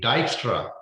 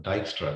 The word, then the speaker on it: Dijkstra: Okay, so this algorithm is called as a Dijkstra shortest path algorithm, named after uh, the person who invented this algorithm, Dijkstra. The J is silent there, right?